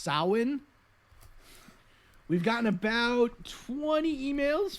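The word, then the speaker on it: Samhain: the Irish festival of Halloween was known as Sam hein it's actually pronounced soin we've gotten about 20 emails from very very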